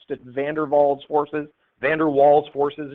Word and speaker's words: van der Waals: Again, I think it's a Dutch name. They pronounce it van der Waals forces, van der Waals forces.